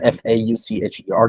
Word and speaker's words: Forshaw: It's William Forshaw. It's a weird pronunciation. Faucher.